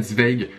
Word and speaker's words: Zweig: inconnue écrit par Stefan Zweig. Alors ça se prononce Zweig je crois parce que c'est allemand.